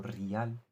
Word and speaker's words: rial: Claro, esto hace que todos tus ahorros guardados en moneda local, en moneda nacional, en reales, también llamado rial, pronunciado a la manera iraní, todos tus ahorros guardados